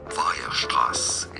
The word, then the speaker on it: Weierstrass: Weierstrass is how it's said in German.